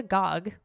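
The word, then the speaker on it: Gág: of cats by Wanda Gog and it's spelled g a a with a little accent over it gig but it's pronounced Gog allegedly this book has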